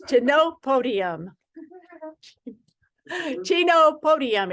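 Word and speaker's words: Chenopodium: uh I know that I know how to pronounce it Chino Podium Chino nope not Pinocchio it's to no podium Chino Podium it's called Chino Podium is what it is um um herbs are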